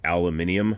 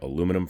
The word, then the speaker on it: aluminium: So unlike the SIGs where they usually had a aluminium frame or aluminum frame, depending on your pronunciation bent, this is an all steel gun.